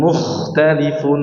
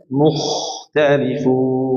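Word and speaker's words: مختلفون: Jangan mukhtalifun. Mukhtal tapi mukhtalifun.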